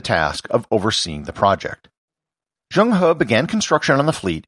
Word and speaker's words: Zheng He: might pronounce it as Zheng He. I'm trying to stay true to the Chinese pronunciation as much as I can.